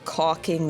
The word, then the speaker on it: caulking: He did a really bad job caulking the tub. And so the way you pronounced it, I think would have avoided a lot of the laughter. I felt the L. You didn't say the L, but I felt it.